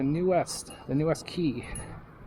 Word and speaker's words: Quay: West the new West Key some people say The Quay because it's spelled q u a y right you'd think that'd be Quay sorry my throat's a